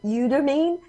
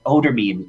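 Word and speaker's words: Eudermine: But this Odormine is the way it is pronounced, and in French it means magic red water. So it's Odormine.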